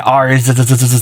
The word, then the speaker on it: Ars: Now I'm saying Ars very carefully because I know it sounds like another word.